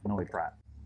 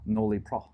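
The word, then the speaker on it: Noilly Prat: This is extra dry, Noli Prat, or Noli Pro. How do you say in French? Probably don't say the L.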